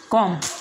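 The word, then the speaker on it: comb: इसके बाद का नेक्स्ट रूल है, एम के बाद बी आ जाए तो बी साइलेंट होगा।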